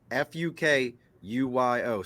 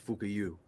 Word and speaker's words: Fukuyo: And look, I pronounce that Fukuyo. So for y'all think that I'm messing with somebody's name, Nope. The man's last name is Fukuyu.